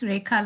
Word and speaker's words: Rekha: I can say I'm probably getting your name wrong, Rekka, but the word anti-racist is in my syllabus. It's there as part of. No, yeah, no, you got it right. It's Rekha, like Rachel.